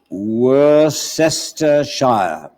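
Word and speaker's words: Worcestershire: as follows w-o-r-c-s-t e-r-s-h-i-r-e which should be spelled were sister shire the next word is l-e-i-c-e-s-t-e-r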